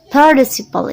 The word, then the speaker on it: participle: Kalau pakai British berarti ini T ini dibaca T.